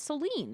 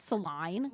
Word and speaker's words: Celine: It's Celine. It's not Celine.